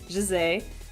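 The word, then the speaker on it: José: I say his name, the Brazilian pronunciation of that name is Jose. That's why I'm calling him that. The current media does not call him that. They always call him by the Spanish pronunciation, Jose.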